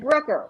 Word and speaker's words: Brucker: And so finally I said, Brooker rhymes with hooker.